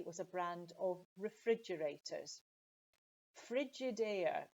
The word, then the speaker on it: Frigidaire: the final example here is a brand called frigidaire it's an american brand from from the usa and it originally was a brand of refrigerators frigidaire it's not maybe so easy to pronounce um